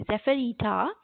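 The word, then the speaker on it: Zephyretta: or if you are wondering what i am pronouncing the word is that e p h y r e double t a zephyrita which means a breeze and the task of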